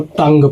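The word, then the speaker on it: tongue: इसमें जो दोस्तों यू है इसके सामने इ आ गया है और इ एक दोस्तों वोवेल है। तो इसलिए दोस्तों यू जो है साइलेंट हो जाएगा। तो इसको पढ़ते वक्त केवल दोस्तों तंग पढ़ेंगे।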